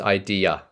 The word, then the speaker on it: idea: Is different to is different to So yes, it is idea. Idea. Notice the sound at the end of idea. Idea. So it's interesting, right? So it is indeed this schwa sound here.